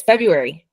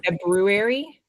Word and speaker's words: February: We are talking about, oh, it's February. My mom likes to say February, as February. it is spelled, not Mhm. as most people pronounce it, which means Valentine's